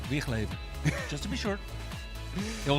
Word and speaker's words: Wigleven: So guys at home, if you ever wonder how you should pronounce the guy's last name, it's not Wigglevan, it's Wigleven.